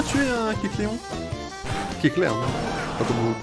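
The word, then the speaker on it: Kecleon: Kecléon, hein. Pas comment vous le prononcez.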